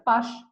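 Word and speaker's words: Paasche: que está escrito acá pche se pronuncia Pash Pash propuso un índice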